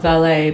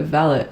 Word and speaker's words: valet: Similar one, the word valet. Not valet, but valet, like a personal servant.